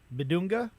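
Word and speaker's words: Bidunga: Bedonga.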